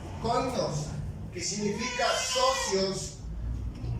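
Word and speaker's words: κοινωνός: La palabra compañeros en griego se pronuncia koinos, que significa socios o asociados o cómplices.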